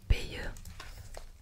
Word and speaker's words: Béa: Béa, annonce-t-il en insistant sur le son du E. Ça se prononce Béa.